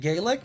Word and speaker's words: Gaelic: There's some country that like Gaelic is a language. It's not like pronounced like that. It's Gaelic.